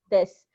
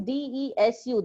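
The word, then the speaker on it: です: plus noun 2 plus des. So the spelling is desu. The last word written at the end of the sentence is desu, but it is pronounced as des. U is silent.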